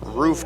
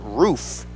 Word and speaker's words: Ruoff: r-u-o-f-f pronounced ruoff as roof goes back and almost picks off brandon but no it is pronounced roof like the roof of a house two balls one strike